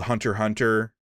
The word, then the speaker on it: Hunter x Hunter: It's like uh there's an anime called Hunter Hunter, which is it's spelled Hunter X Hunter, but it's just Hunter Hunter because it's The X is like That's dumb.